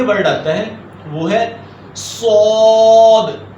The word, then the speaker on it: صاد: آتا ہے وہ ہے صاد۔ اب صاد جو ورڈ ہے اس کو موٹا کر کے پڑھیں گے۔ اب یہ تلفظ ہے،